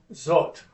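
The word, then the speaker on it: זאת: zot.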